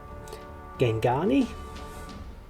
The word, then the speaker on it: Gangani: Okay, very quickly, I know I kept saying that wrong, I'm aware of it. Can't do these words. Gangani, I think, is the more accurate pronunciation.